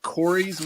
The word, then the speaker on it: Khoureys: But there's also a place called Corey's, which is spelled weird. It's KHOUREYS.